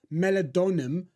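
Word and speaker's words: meldonium: Duty in Ukraine in November now apparently this melad donum that's how you pronounce it is only available in certain parts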